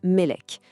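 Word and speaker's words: מלך: Prenez le mot hébreu pour roi qui se prononce Melek.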